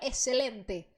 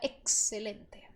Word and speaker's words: excelente: tá então a mais a informação mais importante sobre o x que você tem que lembrar é que ele tem som de KS tá não diga excelente diga excelente então extremos as extremidades